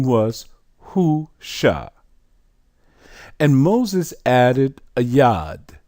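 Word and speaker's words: Hoshea: transliteration here also corrupted because instead of O'Shea it should be who sha remember we just trans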